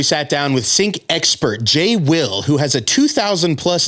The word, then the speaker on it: xJ-Will: don't mind it's it's it's spelled will but the x is silent just because of likeing